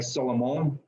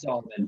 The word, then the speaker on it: Salomon: If we were in France, it might be like Salomon, but Okay. it's Salomon for sure.